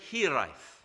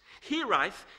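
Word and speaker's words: hiraeth: are difficult to say and almost impossible to spell it's the word hereife there's no direct translation into English but it's a word for the tug of your Homeland on your heart it's more than homesickness here ith is the bond you have with a place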